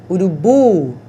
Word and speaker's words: urubu: Então, café, a sílaba tônica é o fé. Urubu, a última sílaba é que é a forte.